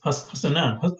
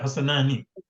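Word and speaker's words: حسنان: Yeah, Hassanani. But of course, because I just said Hassanan because you pulled it Sakin, right? We write Hassanani, but we say Hassanan.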